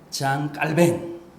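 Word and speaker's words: Jean Calvin: 칼빈이 존 칼빈이 아아 불란서 발음으로는 본토 발음으로는 장 깔뱅 우리 장로교의 교조전아요 뭐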